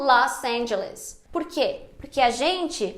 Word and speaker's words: Los Angeles: dos americanos falando português só que nós brasileiros também fazemos um erro quando a gente pronuncia em inglês aplicando a regra do português quando a gente não deveria numa sequência como los angeles por quê porque a